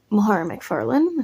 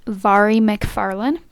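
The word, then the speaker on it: Mhairi McFarlane: Now we're going to move on to their last book, Between Us by Mahara McFarland. I'm pretty sure that's how you pronounce her name.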